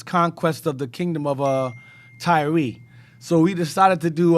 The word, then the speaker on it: Tyre: We've been calling it Tyre. That's also erroneous. It's actually Tyre. It's pronounced Tyre, and Sidon is pronounced Sidon.